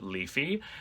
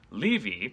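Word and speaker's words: leavy: for a long time there are different ways to pronounce that word some people prefer the rhyme right if you're especially since you're singing just rhyme heavy with levy some texts correct it to leafy and then the oxford english dictionary actually indicates that the pronunciation should be levi which indicates that the pronunciation of heavy has probably also changed quite accidentally i pronounced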